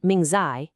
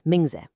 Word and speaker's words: 名字: See, in Shinma and Mingzi, those last syllables, me and zi, they're totally unstressed. They're quick, they're light. It isn't shenmei, it's shenma. It's not mingzai, it's mingze.